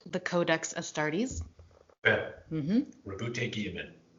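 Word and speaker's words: Roboute: Rabute Guillemot. I'm glad you pronounced it. I thought his first name was Rowboat.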